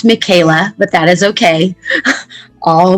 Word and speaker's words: Michaelah: thank you claudine and my name is pronounced michaela but that is okay